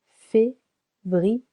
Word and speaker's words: février: Février, 3 syllables. Février, février, February.